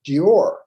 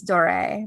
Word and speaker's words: Doré: Oh, it's pronounced Dior. Dior. And Doré, or some people pronounce it. Yeah, Dior. I thought it was Doré, but it depends. I think it's an accent grave on the E, so it's probably Doré.